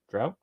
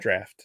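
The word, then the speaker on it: draught: some Guinness drought Stout drought drought is that how you pronounce it draft draft draft that's what I meant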